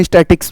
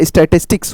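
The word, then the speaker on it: statistics: आपकी स्टेटिस्टिक्स क्या भैया स्टेटिस्टिक्स बहुत बच्चे होते हैं इसको जल्दी-जल्दी हम स्टैटिक्स बोल देते हैं स्टैटिक्स नहीं बेटा स्टेटिस्टिक्स होती है ठीक है ना ये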